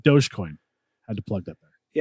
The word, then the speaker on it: Dogecoin: Or if you really want to spend $450, invest in like crypto, like Dogecoin. Had to plug that there. Yeah, is that how you say it? Dogecoin.